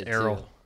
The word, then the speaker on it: Errol: his first name Earl it's Errol it's Arrow how's it spelled it's like e r r o l or something oh I always thought it was a rule no it's Arrow that's on me I